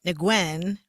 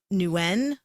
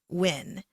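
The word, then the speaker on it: Nguyen: and i said it because i'm an idiot negwin which ain't right sister brother out there that ain't right it's either it's the the the accepted pronunciations of it are nuen or win and my friend goes by new when and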